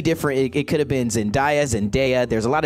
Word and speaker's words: Zendaya: like when you're like it's zendaya like there's no how do you say that like sweetly like it's sunday like i don't know how